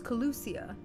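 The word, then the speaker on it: Kholusia: track down the light warden in colusia was colusia okay I've been saying it wrong sadly I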